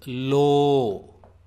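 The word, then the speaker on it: ಲೋ: And it is pronounced like L-O-A in load.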